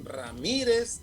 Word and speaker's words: Ramírez: con acento tu apellido ramírez también es una palabra grave que se acentúa porque la mayor intensidad está en la penúltima sílaba y la terminación es